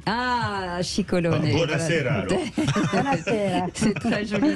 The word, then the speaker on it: Scicolone: Alors, comment vous prononcez votre nom ? Comme ça, on va se mettre tous d'accord. Scicolone. Ah, Scicolone.